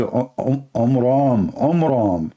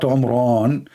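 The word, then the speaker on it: Amram: So it's the father of Moses, his name is Omram, not Omran.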